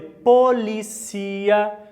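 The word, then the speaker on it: policía: De forma ampliada, então, Hospital, se vocês observarem aqui, cruz vermelha, Estação de polícia, muita atenção a esse termo, Polícia, la tilde, la cia, tá? Última sílaba, que em português é polícia, né?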